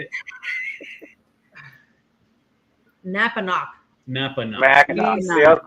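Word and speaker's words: Napanoch: Napanock. Just pronounce it in two, like Napa, like the auto parts. Napa. Yeah, it's a weird name. Napanock.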